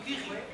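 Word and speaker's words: Curie: A Maria Kiri, eu chamava de Maria Curry, né? Que é em manes a o com a pronúncia correta ou melhor, né? Menos incorreto seria que riquinho que ri.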